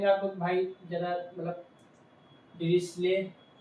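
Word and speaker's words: Dirichlet: आपको भाई ज्यादा मतलब डिस्ले ये है यहां तक ये स्ले बोला जाएगा चलेट नहीं ठीक है मैंने चलेट बोला फिर मैंने देखा नहीं स्ले ठीक है डिस्ले कंडीशन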